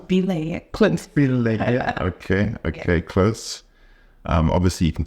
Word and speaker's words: Obileye: Did I pronounce? Obileye. Close. Obileye.